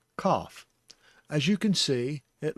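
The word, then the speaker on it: כף: Kaph is spelled with the plosive K sound. That's with a kamatz underneath, making it a ka sound. Ka.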